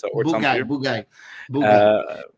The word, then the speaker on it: Bugaj: his name correctly but Bo guyy it's Boo and then guy so Bo guy I'll figure it out